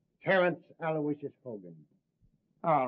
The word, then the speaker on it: Aloysius: Terrence Aloysius Hogan. All right, Hogan. You're not a bad guy. I guess you deserve a break. Yeah, spell that middle name right. It's Aloysius. Aloysius.